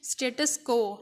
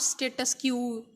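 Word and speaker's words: status quo: अब ये स्टेटस को है वर्ड, आपने इसको किस तरह प्रोनाउंस करना है, स्टेटस को, नॉट स्टेटस क्यू, इट्स स्टेटस को।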